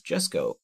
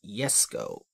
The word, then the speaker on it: Jesko: is not pronounced as Jesco but as yes go because in Germanic languages the J is basically a y and this car is